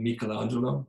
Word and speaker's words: Michelangelo: If we lived in Italy, we would pronounce his name Michelangelo.